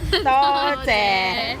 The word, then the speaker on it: 多謝: 多謝.